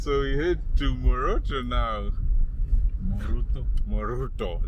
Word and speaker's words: Moroto: Right, so we head to Moroto now. Moruto. They pronounce it Moruto.